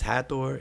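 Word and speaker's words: Hathor: glyph and so hator the way we pronounce hator is really coming from um the Greek ha but if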